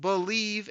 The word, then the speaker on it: Bleav: It's called Believe in Lions, and that's spelled BLEAV on the Believe Podcasting Network with both myself and Lions legendary safety Benny Blades.